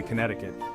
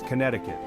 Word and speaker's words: Connecticut: right way to say Connecticut that second C never has been pronounced therefore remember the sea is not important people it's Connecticut keep the sea silent like you're really savoring